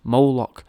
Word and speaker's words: Moloch: In some writings, Moloch's apparently represented as well by the spelling of Mluk, pronounced Moloch, spelt M-L-K, right, so that's Mlik, or, you know, which is Moloch, it's a cool name, innit,